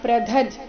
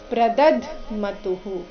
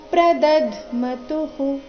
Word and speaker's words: ಪ್ರದಧ್ಮತುಃ: ಪೂರ್ತಿ ಮ ಇದೆ ಇದೆ ಗಡಿಬಿಡಿಯಲ್ಲಿ ಬಾಯಿಂದ ಪ್ರದದ್ ಅಂತ ಬರಬಹುದು ಆದರೆ ಅದು ತಪ್ಪಾಗಿದೆ ಸರಿಯಾದ ಉಚ್ಚಾರಣೆ ಪ್ರದದ್ದ್ ಮತುಹು ಪ್ರದದ್ ದ ಆದ ನಂತರ ಅರ್ಧ ದಕಾರ ಬರಬೇಕು ದಿವ್ಯೌ ಶಂಖ ಪ್ರದದ್ಮತುಹು ಇಲ್ಲಿ ತುಂತ ನಂತರ ವಿಸರ್ಗ ಬಂದಿದೆ ಅದರ ಉಚ್ಚಾರಣೆ ರಸ್ವ ಹೂ ಬರಬೇಕು ಪ್ರದದ್ಮತುಹು ಪೂರ್ತಿ ಶ್ಲೋಕ ತತಶ್ವೇತೈರ್ಹಯೈರ್ಯುಕ್ತೆ